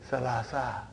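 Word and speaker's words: ثلاثة: So that is why you have salasatun. But in pronunciation we will say salasa. Salasa.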